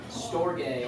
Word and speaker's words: storge: Storge. Wow. Oh, Yeah. It is that.